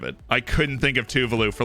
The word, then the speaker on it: Tuvalu: call it something else i used to call it tuvalu but now i call it tuvalu because that's apparently the right way to say it but i could not